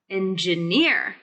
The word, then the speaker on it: engineer: and then we need the stress of the word engineer to be on the third syllable engineer engineer engineer engineer that's